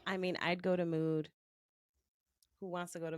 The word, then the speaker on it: Mood: You said It's the mood, store and I that they. food. No. Rhymes with food.